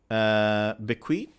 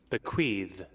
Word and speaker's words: bequeath: my sufferance, and I bequeath. How do you say that? I'm telling you. Bequeath. Yeah. I cannot do the TH. Bequeath is the best thing I can do.